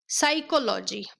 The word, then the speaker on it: psychology: नहीं हो रहा है साइकोलॉजी स्टार्ट वॉइस जबकि उसको पी से होना चाहिए क्योंकि फर्स्ट लेटर पी है जैसे यहां पर राइट